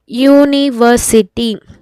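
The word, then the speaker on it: university: ಹೇಳಿದೀನಿ ಪ್ರೊನೌನ್ಸ್ ಮಾಡಬೇಕು ಯುನಿವರ್ಸಿಟಿ ಯುನಿವರ್ಸಿಟಿ ಹೆಂಗೆ ಪ್ರೊನೌನ್ಸ್ ಆಗ್ತಾ ಇದೆ ಯುನಿವರ್ಸಿಟಿ ಯು ಅಲ್ಲಿ ಏನ್ ಸ್ಟಾರ್ಟ್ ಆಗ್ತಾ ಇದೆ ವೈ ಸ್ಟಾರ್ಟ್ ಆಗ್ತಾ ಇದೆ ವೈ ಸ್ಟಾರ್ಟ್ ಆಯ್ತು ಅಂತಂದ್ರೆ ಏನಾಯ್ತು ಕಾನ್ಸೋನೆಂಟ್ ಆಯ್ತು ಅದಕ್ಕೆ ನಾವು ಏನ್ ಮಾಡ್ತೀವಿ ಎ ನ ಯೂಸ್ ಮಾಡ್ಕೋತೀವಿ ಐ ಹೋಪ್ ಇದು ಕ್ಲಿಯರ್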